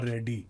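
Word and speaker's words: Reddy: Funny तरीके से नहीं करेक्ट तरीके से प्रोनाउंस करते हैं वो कहते हैं नितीश कुमार रेड्डी रेड्डी हो रेड्डी याह।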